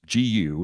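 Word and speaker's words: 觚: what's uh what's called I think it's pronounced goo just it's guu it's a Chinese um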